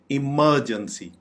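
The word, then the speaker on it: emergency: हो तो हम बोलेंगे इमरजेंसी इमरजेंसी इसको बिल्कुल भी इमरजेंसी नहीं बोलना चाहिए इमरजेंसी यह बिल्कुल गलत प्रोनंसिएशन है वेजिटेबल वेजिटेबल सब्जियां वेजिटेबल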